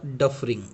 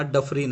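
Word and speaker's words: Dufferin: त्यानंतर पुढची जी व्यक्ती आपली ती म्हणजे लॉर्ड डफरिंग. ओके, नॉट सफरिंग, हा डफरिन आहे.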